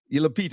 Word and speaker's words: Lupita: Apparently he cast the beautiful um golly Lita Lupita.